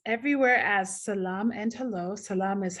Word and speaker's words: Selam: Salam is how we say hello in Ethiopia, SELAM. Some places it's spelled SA.